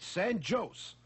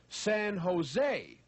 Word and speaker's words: San Jose: how much she loved San joose my dear lady said the man in California we pronounce All J's as H's we say San Jose by the way when